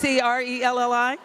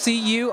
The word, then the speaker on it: Corelli: And then Corelli is Crelli. Corelli is Currelley. Oh, you really threw us off because normally it's spelled like the Italian way, right?